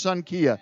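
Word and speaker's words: Xankia: we want to give a little shout-out to son Kia that's spelled that's got a funny spelling it's XA n ki a but it's pronounced son Kia now they're not open today I want to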